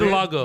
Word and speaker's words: vitiligo: Vitiligo.